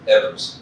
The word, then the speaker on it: Evers: We had President Biden in the state, and he was in Superior, Wisconsin with Senator Baldwin and Governor Evers, or Evers, as he likes to pronounce it.